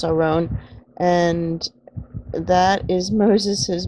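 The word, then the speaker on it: ארון: well if you read it in English it's Erin but it's pronounced around and that is Moses his brother's name Aaron or in the Hebrew you would you would say ah her own and as you see here it also means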